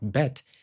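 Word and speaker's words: בית: When the dagesh, the dot, is present, it is called BET, making a bilabial /b/ sound, as in 'Basketball'. You use both your lips, /b/.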